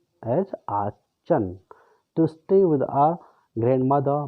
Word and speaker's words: Aachen: This is pronounced as Aachen, to stay with our grandmother.